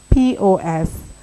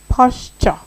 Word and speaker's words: posture: So posture is spelled Posture. Yeah, you know that. And it's pronounced posture. Clock that. I'm telling you, posture. It's not posture. Posture.